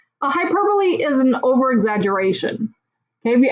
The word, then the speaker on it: hyperbole: the word looks like hyperbole but it's actually pronounced hi purply hyperbole is an over-exaggeration have you ever heard somebody